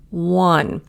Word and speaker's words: one: Now this one I put the number 1 because a lot of people don't realize it's a W sound even though it's an O. 1.